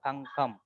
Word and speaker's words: தங்கம்: சொல்லு இங்க இருக்கு பாருங்க தங்கம் அந்த கானா உச்சரிப்பு வந்து ககரம் பாருங்க ஜி என்ற சவுண்டு வரும் சரிதானே அதுதான் சொல்லிடுறோம் தங்கம் தங்கத்துக்கு தான் அந்த ஜி சவுண்ட் இருக்கு அந்த ஐல வர காணாக்கம்